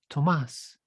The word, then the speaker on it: Tomas: Thomas with no H, because, yes, my name comes from Spanish, so it's pronounced Tomas.